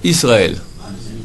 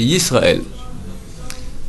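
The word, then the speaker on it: ישראל: Il y a une différence entre un I et un Y. Erreur colossale que la majorité de la population fait. Shema, ils disent Israël avec un Aleph. Alors c'est un Y, c'est Yisraël.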